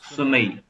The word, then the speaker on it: sommeil: सकते हो pronunciation avoir sommeil. Avoir sommeil. Okay, avoir sommeil. So mei, okay, mei. So sommeil.